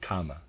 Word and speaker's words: Kama: correctly or at least not the word Karma it's the word Kama k m a just read for clarification